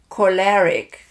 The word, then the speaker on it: choleric: And they are called choleric. Choleric. I have to pronounce it right, otherwise it is a curse word.